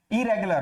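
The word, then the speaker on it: irregular: और इरेगुलर होगा, इसका होगा इरेगुलर, रेगुलर, इरेगुलर, नॉट इरेगुलर। इरेगुलर इसका गलत प्रोनाउंसिएशन है, सही प्रोनाउंसिएशन होगा इरेगुलर, और उसका प्रोनाउंसिएशन होगा illegal, illegal, not illegal, illegal.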